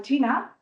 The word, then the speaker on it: qi: El chi seguramente alguna vez lo habéis visto escrito que es se escribe qi el chi, que es la energía.